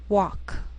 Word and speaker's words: walk: she'll it'll wheel veil sometimes L can be silent so you have to be careful the first five words